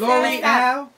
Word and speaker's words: Lore'L: We got L'Oreal, MC, star of that Love and Hip Hop show. Yeah. You already know. You know is it L'Oreal?